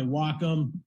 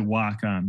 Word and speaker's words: Wacom: Here's another quick, and again, these are just concept sketches done on my Wacom real quick.